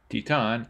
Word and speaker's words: Titane: Titane, and yes I did look up how to pronounce that just now, is from writer and